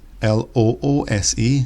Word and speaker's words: loose: In terms of pronunciation, the first one, lose, has a Z sound for the S, whereas in loose, the S is more of a S sound.